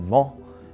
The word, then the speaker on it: vent: And vent in French, you pronounce it vent, and it means wind.